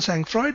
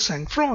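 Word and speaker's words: sang-froid: is not pronounced the sangroid is pronounced as sang fro it has a french pronunciation to it as well so this refers to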